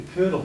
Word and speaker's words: Cudal: Now, if you're in, for argument's sake, the Curdle Brigade, that's how you pronounce it.